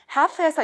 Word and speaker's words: half: 자, 40번 half에서 이거 half라고 안 하잖아요. 그죠? half에서 L은 발음하지 않는다.